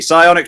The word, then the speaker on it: Psionic: I forgot you need to do not pronounce the P. Psionic Trap.